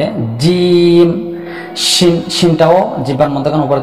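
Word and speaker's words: جيم: তো আসুন জিহ্বার মধ্যখানটা তালুতে লাগিয়ে আওয়াজটাকে শক্ত করে চার আলিপ পরিমাণ টেনে এবার হরফটা উচ্চারণ করব, আমরা হরফের নামের মস্ক করব। জিম, জিম, জিম।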